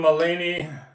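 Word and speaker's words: Mulaney: this one time so I can see Chapel rone on Saturday Night Live November 2nd John molini that's how you say his name the comedian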